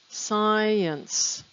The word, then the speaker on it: science: in line four science science where's the s c i is just an s sound this is because very often ci sounds like just like the s so science two syllables